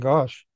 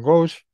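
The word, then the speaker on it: Ghosh: to welcome Dame Helen gosh or ghost as it's sometimes pronounced as the new Master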